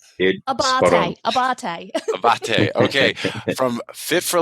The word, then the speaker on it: Abbate: And we have Donna Abbate and Marcello Abbate. Did I say that right, guys? Did I say it right? Abbate.